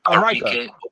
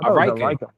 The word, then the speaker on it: Arike: It's Arika. Ogunbowale. I thought it was Arike. Arika, yeah. Arike. Okay. Arike.